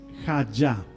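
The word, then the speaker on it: הָיָה: hebrea número 1961 y la pronunciación esta palabra es ja Esta es la frase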